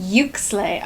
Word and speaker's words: Uxlay: Oh, she pronounced it. Hold on. This book takes place in is called Yuxley University. Yuxley.